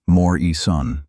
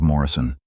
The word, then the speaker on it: Morrison: he'd asked, mispronouncing her last name as Moore-E-Son instead of Morrison.